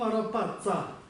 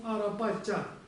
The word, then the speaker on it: Арапача: Вот, во-первых, она не Ом Арапатца. Если уж пошло на то, должно произноситься как Ом Арапатча.